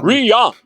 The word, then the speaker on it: Ryan: be a character that's spelt Ryan, Ryan, but actually they pronounce it Rian.